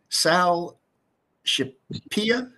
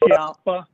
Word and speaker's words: Scalpa: sir if i press if i mispronounce your name sal pia it's sal scalpa okay if i if